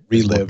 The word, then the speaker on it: ReLive: You know, the big thing though are we calling it ReLive or ReLive? It's the Radeon ReLive. ReLive application. Yeah, that is how they say it is spoken.